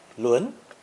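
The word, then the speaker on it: 轮: vehicle radical to create the character pronounced second tone luen luin meaning a wheel according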